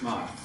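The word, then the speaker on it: Maat: Am I pronouncing those correctly? Sounds okay. Okay. I say go for it. Yeah. You're right. Okay. Mot.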